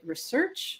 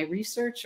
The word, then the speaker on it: research: we don't know so how do you say research if it's the noun or the is it my research or my research or my address the